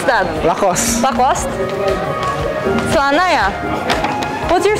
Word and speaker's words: Lacoste: How do you pronounce that? Lacoste.